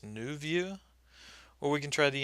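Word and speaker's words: nouveau: we can try this i think it's pronounced new view or we can try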